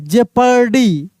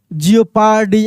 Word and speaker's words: jeopardy: हैं इसको, ठीक ना, लियोपार्ड, जियोपार्डी ऐसे हम लोग बोल देते हैं, लेकिन एक्चुअल में प्रोनाउंसिएशन यही होता है, लेपर्ड, जेपर्डी, थियरी।